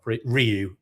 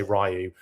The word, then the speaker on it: Ryu: All those cutscenes that had like Ryu, as it's actually pronounced, but I always used to say Ryu, and I've always said Ryu, so it's really